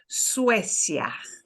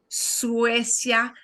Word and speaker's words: Suecia: Suecia, that UE combination that we call a diphthong, you know, and make sure that you are really pronouncing each vowel nicely and clearly. So actually 2 diphthongs, the ue of Suecia and the ya, but not Suecia, no, Suecia.